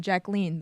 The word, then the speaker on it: Jacqueline: being called Jackie and she preferred being called Jacqueline the French pronunciation oh Barbara Streisand you